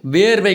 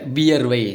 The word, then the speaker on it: வியர்வை: அடுத்து வேர்வை கிடையாது, வியர்வை.